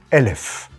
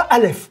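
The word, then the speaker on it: אלף: Elef. Très bien. Comme en arabe, d'ailleurs. Pas Aleph, pas la lettre non. Aleph. Elef. Elef. Ça s'écrit pareil, mais...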